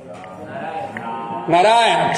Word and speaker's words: Narayana: A regra toda da tonicidade fala aqui. Penúltima sílaba. É guru ou lago? Pesado ou leve? É lago. Porque a vogal é breve.